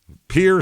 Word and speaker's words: Pierre: Pier, South Dakota is how they say it here.